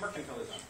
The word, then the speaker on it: mercantilism: Say mercantilism. Accent on the merc. Make it happen on your page if you have to. Mercantilism. Don't say mercantilism. Although you can say that too.